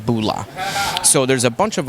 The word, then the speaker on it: bula: bars serve fijian cava cheers in fiji is pronounced bulla so there's a bunch of other kava bars